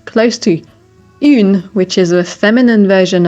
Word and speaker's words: un: It is very important that when it's UN alone, you pronounce it with the nasal sound un. It is extremely common for learners to say un. First of all, it sounds like Spanish, un.